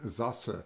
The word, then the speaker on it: Sasse: Someone just asked, Cassie Scott asked, are you related to Ben Sasse? I hope I pronounce his name correctly. I'm pronouncing it the way Germans pronounce it. It's actually of Saxon origin.